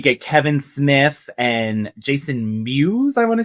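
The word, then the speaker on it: Mewes: Just a few other We get Kevin Smith and Jason Muse, I want to say is how you say his name. Yes. I all Jason Muse.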